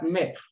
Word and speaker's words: maître: Let's look at maître. There's accent on the E does not change the sound. It's the E together with the A that gives the sound E.